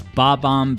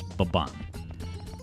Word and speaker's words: Bob-omb: And one of the things that it's about is Bob-omb Battlefield. Now, that's the way I pronounced it as a kid, okay? But I guess the formal pronunciation is Bob-omb.